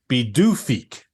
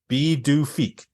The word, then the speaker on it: Pituffik: Its new name is Pituffik, and it's pronounced Pituffik. Pituffik.